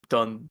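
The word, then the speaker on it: Deaux: his name just because it's d-e-a-u-x but he goes by do so i always have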